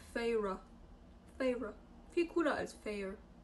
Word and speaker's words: Feyre: Ich weiß, wie sie ausgesprochen wird. Feyre. Voll geil, dass die das aufschreiben, wie man sie ausspricht. Feyre.